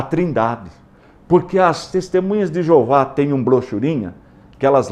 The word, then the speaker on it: Jeová: invenção que na verdade a pronúncia do Tet Gama se perdeu que é o y o h o w que os rabinos pegaram depois que desenvolveram as vogais para facilitar o aprendizado enxertar as vogais de Adonai no tetr surgiu a pronúncia Jeová que está na nossa